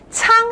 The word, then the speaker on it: 鄭: 仓醒赏，郑成功的郑呢，客家话的发音是仓，醒赏就是先生，仓醒赏某就是是吗？